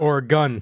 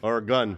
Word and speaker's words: Oregon: Or a gun. Or a gun.